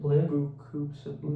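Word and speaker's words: Beaucoups of Blues: Blue of Blue Coops of Blues.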